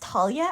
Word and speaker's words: Thalia: of Talia but anyway I'm saying Talia it's grammatically correct in Greek in Greek it's pronounced Talia actually Talia whatever but what was